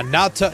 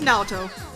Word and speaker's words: Naoto: And uh Natto Natto. I keep goofing up how to pronounce uh Yeah, it's it's Naoto.